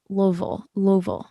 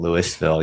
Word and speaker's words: Louisville: Friday will actually be in Cincinnati, and then Saturday will be in Louisville. I've always pronounced that wrong.